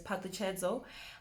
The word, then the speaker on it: Phutshilo: So how you would normally say it is PHUTSHILO, but for us, because we need to learn the pronunciation, we're gonna break it down. So you have the pa. It's not pa like the previous name, which is PFARELO. This is pa because it's ph, right?